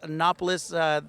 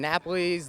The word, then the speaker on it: Nopolis: We were talking about the name Nopolis. That's the pronunciation. Yes, sir. What other names have you been given in the past? I've been given Napoli's, Naples.